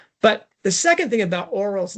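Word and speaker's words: Orual: I'm saying oral, Nick's saying something different, and it's because there's a UA, which is a very difficult thing to say in English, or rual.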